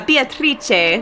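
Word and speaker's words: Beatrice: witch named beatric uh beatric so it's like the Italian pronunciation uh and that's kinzo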